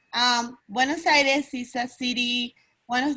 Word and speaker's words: Buenos Aires: Vanessa, can you give us the correct pronunciation for Buenos Aires? Sí. Buenos Aires es una de las ciudades más grandes del mundo con una población de más de 17 millones de habitantes.